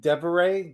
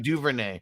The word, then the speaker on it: Duvernay: What's your thoughts on the Devin Deveray? Did I say it right? For Devin Duvernay. So Duvernay for Baltimore.